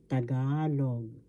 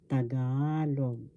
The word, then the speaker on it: Tagalog: know how to pronounce tagalog first board sa second syllable ga third syllable log the accent or the stress is in the second syllable so we say this tagalog tagalog intensifiers in tagalog